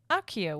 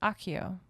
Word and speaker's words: Accio: So and then second thing, Accio is Latin and pronounced Accio with like a KK sound.